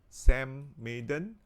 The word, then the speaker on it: Samaiden: the next one is samadhan which is uh sam maiden okay i think that's the right way to pronounce it san maiden and you